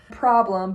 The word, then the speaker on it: PRBLM: Problem, but it's spelled PRBLM by Friday Pilots Club.